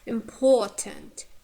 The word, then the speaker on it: important: Important, important. Oh, we have long vowel.